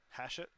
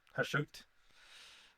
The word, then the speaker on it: Hashut: Hashut. Hashut, Hashut.